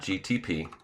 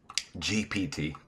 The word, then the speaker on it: GPT: But so, we asked Chat GTP GPT. Did I say it wrong? I always say GT cuz GT is like, you know, the car. So, it's easier for me to go GTP rather than GPT.